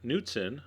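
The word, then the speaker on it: Knudsen: 3/4 of a cup of my nuten, the K is silent, light sour cream.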